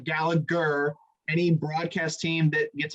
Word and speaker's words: Gallagher: like an irish thing the g silent america it's gallagher should ask him that but